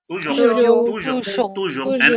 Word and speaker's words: toujours: No, not jo. Toujours. And as I said, this is a consonant and S is silent.